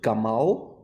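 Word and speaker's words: gimel: now the gimbal is you can write it out and pronounce it gamal and that's translated as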